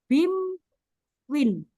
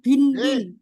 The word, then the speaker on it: Binwin: saran dari Pak Saifudin n diganti m jadi bacanya Bim Win gitu ya pak bim Win bukan bin Win beri bimwin tapi eh